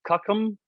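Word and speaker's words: COUCM: unorganized Constitutional Militia um pronounced kakum um don't know where their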